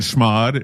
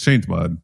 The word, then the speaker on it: chmod: It's like shell and schmod and and all those shellod, right? No. you just replace with it's it's change mod but I call it oh schmod